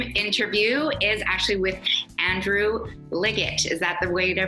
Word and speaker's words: Liggett: Koch here with the CIty Home Team, and this week's Zoom interview is actually with Andrew Liggett. Is that the way to pronounce it, Andrew? That's right, hard G.